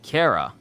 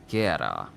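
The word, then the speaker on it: qara: In Oromo, blade is said Kara. Q-A-R-A. Kara.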